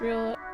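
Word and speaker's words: réal: Is the current name pronounced real? Real. Real is how it's pronounced.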